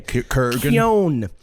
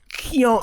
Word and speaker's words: Keoghan: Kurgan. Keoghan. It's Irish. I looked it up. Yeah, it's got like a 9 in it. Keoghan.